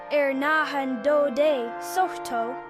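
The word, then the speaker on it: Hernando de Soto: Hernando Dotto, pronounced Ernando de Soto, explored the American Southeast.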